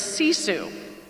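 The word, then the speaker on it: sisu: in our family but it's a finish word and it's see Sue and see Sue essentially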